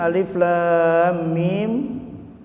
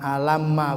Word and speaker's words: Alif Lam Mim: Jadi bacanya satu-satu, bukan alamma, bukan. Tapi alif lam mim gitu bacanya.